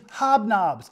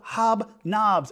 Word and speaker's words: Hobnobs: pulled out of the British box here is hobnobs the Odie one I don't know what that